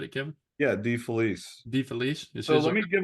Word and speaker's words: DeFelice: Yeah, DeFelice.